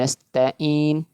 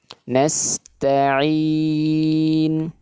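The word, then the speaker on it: نَسْتَعِينُ: Bukan nasta'in, tapi ain, nasta'in. Ya.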